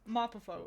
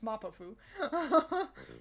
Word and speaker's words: Mapafu: Mapafo is a name who I always say it wrong. It's Mapafu.